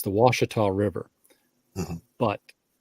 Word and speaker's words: Ouachita: French and the second ones knew how to pronounce it so right you you have you have the Ouachita River up in Northwest Arkansas which you know